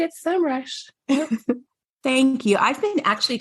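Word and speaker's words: Semrush: is here but I'm also excited that you pronounce simrush simrush so anyway so thank you for being here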